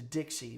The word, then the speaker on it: DXY: The dollar the the dollar uh US dollar index the Dixie. We call it Dixie. It's spelled DXY.